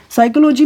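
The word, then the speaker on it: psychology: ये सभी फेमिनिन है साइकोलॉजी में पीस साइलेंट है नॉलेज में के साइलेंट है और दी साइलेंट है जबकि डॉट में बी साइलेंट है और कैटल में कोई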